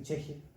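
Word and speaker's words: ch'ixi: Como dice Silvia Rivera Cusicanqui, la filósofa boliviana, que habla del pensamiento cheje, que se escribe chixi, es un intento por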